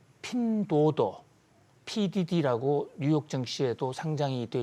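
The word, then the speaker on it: 拼多多: 박사님, 이게 어플리케이션 이름이 핀더더라고 하던데 중국 온라인 이용자 4분의 3이 거의 이용하는 쇼핑 어플이라고 하더라고요. 네, 요즘 중국어 발음이 굉장히 좋아지셨어요. 아, 그런가요? 네, 핀도도.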